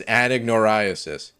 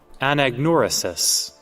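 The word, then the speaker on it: anagnorisis: the disease the technical the scientific term for that is an ignoriasis all right let's take it to Google that was my uh my best guess let's see uh anagnoresis okay I wasn't saying it correctly either but uh you know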